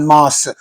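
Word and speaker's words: en masse: An unmas. Don't say n. Unmas.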